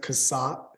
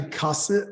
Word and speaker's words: Kaasat: I mean, I think that, most people pronounce it Kaasat. Kaasat. Kaasat, which is okay. It's not correct. Oh, wait, what is the correct? It's actually Kaasat.